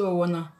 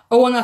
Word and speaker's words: Owona: À la personne que tu as vue pour prononcer son nom, c'est Owona. Owona, c'était autant jadis, comme on dit en français.